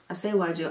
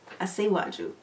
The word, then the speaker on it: Asiwaju: Asiwaju. I heard him say it. So, Asiwaju. But yeah, that song was a vibe.